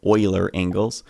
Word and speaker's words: Euler: that rotation dot Euler angles, that's the correct pronunciation of it, Euler angles equal, I believe, what do we need to do?